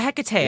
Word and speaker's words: Hecate: I I I I can pronounce it Hecate. I don't know why people pronounce it Hecit.